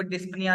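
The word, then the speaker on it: dyspnea: breath को medical में डिस्प निया का वर्ड यूज किया जाता है डिस्प निया के नाम से प्रोनाउंस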